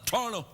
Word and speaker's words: Toronto: even call it Toronto I pronounce it like locals say Toronto I call it tano hi we're in Toronto